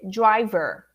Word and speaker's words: driver: air so it's not the last syllable is very important not just for driver but for teacher for lawyer the er is a very important syllable so say driver the name of the document that we that we get you know from here in brazil from ditra is a driver's license not a driver's license a driver's license uh don't eat that last syllable driver's license driver driver